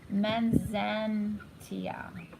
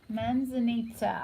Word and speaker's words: Manzanita: Manzantia. I don't know what this is. It's like a, wow, that's a really beautiful card. Manzanita. Manzanita, I think is the way you pronounce it.